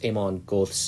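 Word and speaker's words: Amon Göth: Now I'm able to pronounce Aman Goth's uh name properly instead when I couldn't pronounce it properly in the uh essential Steven Spielberg movies.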